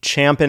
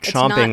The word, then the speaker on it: champing: But first, if you are already champing at the bit, you notice how I said it right? Champing. Oh, that's right. We did It is not chomping at the bit.